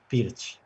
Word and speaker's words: Pirc: So I said perch, but it's actually Pirch. Yeah. There you go. That's how you pronounce it, everybody.